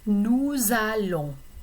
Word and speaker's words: nous allons: So normally S would be silent for nous and vous, we and you. But when you pronounce it before a verb beginning with a vowel sound, then you are going to pronounce the S. So it becomes nous allons.